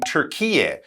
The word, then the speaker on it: Türkiye: We should point out that people in Turkey now, they actually prefer the pronunciation Türkiye. That's how they're encouraging people to say it, but it's still very commonly known as Turkey, very close to Greece